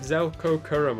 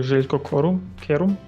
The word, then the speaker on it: Željko Kerum: I don't think I pronounced that name right. I don't know who it is. Do you know who it is? It's actually Željko Kerum. Pronounced that horribly, didn't I?